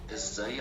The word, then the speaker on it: ازاي: So you notice there is shadda on ya.